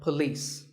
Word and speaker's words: police: isn't police or polis it's paw and beliefs with the stress on lease so police the next word is